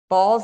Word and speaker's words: Balsz: So we met with them, and one of the schools we met with, the school is Balls Elementary School District. It's a school district in Phoenix, BALSZ is how it's pronounced, spelled.